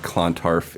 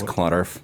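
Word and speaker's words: Clontarf: in uh klondar minnesota i said it right it's not klontarf it's clauderf so you got to say that right he'll like that he's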